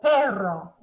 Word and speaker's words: perro: el perro. El perro. I'm listening for trills. Are the R's trilling?